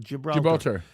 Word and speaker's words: Gibraltar: Gibraltar.